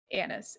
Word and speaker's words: anise: that second spice i just didn't get it anise a-n-i-s-e it's also called star anise i know so you pronounce anise you put it in chai tea